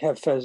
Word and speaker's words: Hafez: it's called hafez it's they spell it with an i i i pronounce it with an e i think half fez is really the proper way but who knows 50